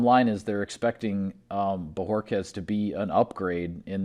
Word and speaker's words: Bojorquez: have to apologize because i believe i was saying his name wrong when we brought it up last week so bajorquez is the proper penunci pronunciation we got a chance